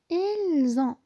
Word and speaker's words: elles ont: elles ont. elles ont. كيف ما كتشوفوا هنايا كنديروا لا ليزون ما بين اس و ان تي باش تجينا سهله في النطق.